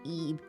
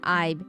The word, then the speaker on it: Ib: Even her parents were on the way to an art gallery. By the way, her name is pronounced Eve, but it's spelled IB. So, it's not Ibe, it's Eve.